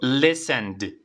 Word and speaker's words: listened: Repite conmigo, listened. Y tiene que sonar la D, ¿vale?